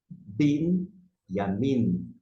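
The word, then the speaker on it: בִּנְיָמִין: B N aqui não vai ter esse somzinho do E. Você parte para a próxima. Yamin. Bin yamin. Bin yamin é benjamim.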